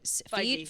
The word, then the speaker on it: Feige: Kevin Feige.